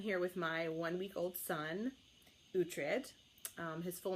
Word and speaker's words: Uhtred: It's spelled U-H-T-R-E-D.